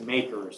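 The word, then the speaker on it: MACRS: It's referred to as makers. So m a k e rs is the way I would pronounce it.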